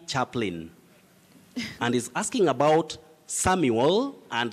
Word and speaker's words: Samuel: say samwell s-a-m-w e-l-samwell but when you have that uel you say samuel very tricky just like